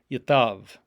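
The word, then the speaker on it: יתב: be written with a delegation is therefore therefore pronounced as a v yatav it's like the hebrew word yeshav for you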